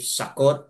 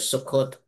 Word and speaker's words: Sukkot: So, either way, Sakot or Sukot, magkaiba-iba yung ating pagbigkas, mga kapatid.